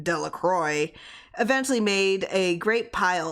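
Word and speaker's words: Delacroix: Jones and Dicky delaqua the villagers pronounced the name Delroy eventually made a great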